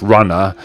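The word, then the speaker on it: RunR: I think that's meant to be pronounced Runner, but he wanted a way to have a channel name which wasn't Runner.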